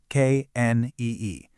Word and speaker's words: knee: Notice the spelling here, k n e e. I'm going to slow down dramatically just to emphasize this. That k at the very beginning, it is completely silent. You just say knee.